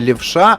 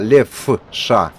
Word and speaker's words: Лефша: Не хочу наголосити не Левша, а Лефша.